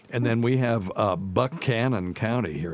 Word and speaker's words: Buchanan: then we have uh Buck Canon County here it's not Buchanan Buck Canon that is very true